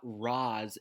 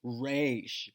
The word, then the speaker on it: Ra's al Ghul: It's not Roz, it's Raish.